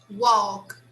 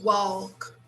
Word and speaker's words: walk: Walk. Actually, we don't say walk, we say walk. Okay. So just the spelling is like that, but it's the verb walk.